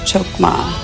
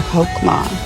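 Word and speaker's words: חכמה: It is also a Hebrew word that is pronounced chukma or hokma in modern Hebrew.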